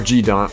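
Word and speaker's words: Godot: And that's one of my biggest mistakes, was not learning Jadot. Or G-Dot, whatever, if you're American. I'm American, but I like the European pronunciation. It's pretty neat.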